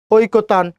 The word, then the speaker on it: ঐকতান: এখন ঐকতান, ও রস্যই ওই, কয়কারে কো, ঐক, তো আকার দন্তন্য নিচে হাস, ঐকতান, কবিতা।